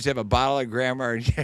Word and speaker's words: Grand Marnier: My parting drink is a is a For those that aren't smart, they'll pronounce it Grand Mariner, but those are the Fiji. Grand Marnier.